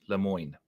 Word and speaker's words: Lemoyne: Lemoyne. Des Moines.